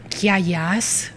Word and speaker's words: Kiagas: Giagas, which sounds like no, with a K.